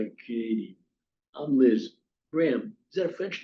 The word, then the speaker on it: Bram: Bram rhymes with ham. Only one syllable instead of three.